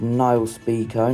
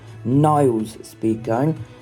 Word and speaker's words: Nile Speedcone: a male racer, and it's pronounced Nile Speedcone, not Niles Speedcone.